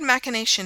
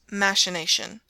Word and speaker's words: machination: In the word machination, however, though the accent was correctly marked, she taught the class to call it machination.